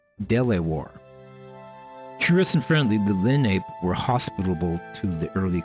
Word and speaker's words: Lenape: The first residents of Moon Lake were members of the Lenape, pronounced Lenape.